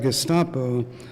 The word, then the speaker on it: Gestapo: If we stay within Lacan's conceptual scheme, we might say that the hard G of the signifier Gestapo has been metamorphosed into the soft G of geste.